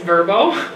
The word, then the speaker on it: VRBO: was waiting on hold I found out there actually pronounced verbo they kept saying it on the whole thing turbo will be right with you whatever so anyways I still call it VRBO because that sounds weird to me but by the time